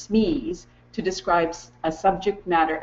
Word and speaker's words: SME: people like to use SM e s which is pronounced Smee to describe a subject